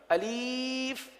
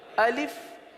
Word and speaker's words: الف: الف۔ اب اس کو الف پڑھنا یا الف پڑھنا یا الیف پڑھنا، یہ غلط ہے۔ تو درست ادائیگی کرنے